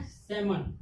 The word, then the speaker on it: salmon: सेमन means सामान। SALMON। एल क्या हो गया? यहाँ पे साइलेंट है। क्या है? साइलेंट है। तो कितने का हम लोग प्रोनाउंसिएशन किए? SAMON, सेमन।